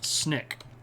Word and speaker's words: SNCC: This is the SNCC but it says uh it's pronounced SNIK.